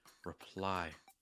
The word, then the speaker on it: reply: Reply. The stress is on the word ply.